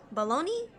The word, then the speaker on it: bologna: baloney baloney baloney bologna how do you pronounce it baloney even though it's n a I'm struggling sounds like